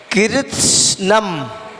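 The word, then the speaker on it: कृत्स्नम्: कृत्स्नम, सा का उच्चारण नहीं होगा, सा का तो केवल हल्का सा यानी कि साइलेंट हो जाएगा और हल्की सी वायु निकलेगी और उसके बाद में नम।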